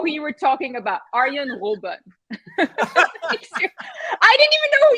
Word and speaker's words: Arjen Robben: Arjen Robben. Yeah, that's better. All right, much better. You know what?